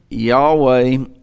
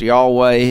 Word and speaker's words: Yahweh: from Lord master ruler Yahweh it can be pronounced y'all way it can it used to be pronounced Jehovah its either way depending on who you